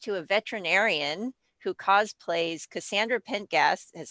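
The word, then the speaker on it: Cassandra Pentaghast: i am engaged to a veterinarian who cosplays cassandra pentgas is how you pronounce it she's from dragon age as well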